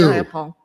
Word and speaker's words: Jayapal: Jayapal.